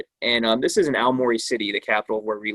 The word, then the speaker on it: Aomori: this prefect is called aomori prefecture and he goes sir there's a giant bird flying over a mor like like a murray or like a yeah they say it wrong in the dub yeah and uh i